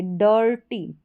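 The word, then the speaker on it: dirty: आई आर का उच्चारण आई आर को हम अर करके प्रोनाउंस करेंगे अर करके तो यहां पर बीच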